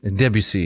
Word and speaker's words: Debussy: Is it Debussy? Debussy. Debussy is how you say Sorry.